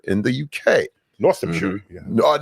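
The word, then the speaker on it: Northamptonshire: My name is and I'm from North Hampshire in the UK. Northamshire. So, North uh Northamshire. North. Yeah, I got to say it right. They staple it all together.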